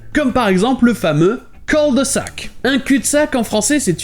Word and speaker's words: cul-de-sac: Et la différence de prononciation ici, c'est que le son U en anglais n'existe pas vraiment. Donc à la place, le mot Q sera prononcé cul-de-sac.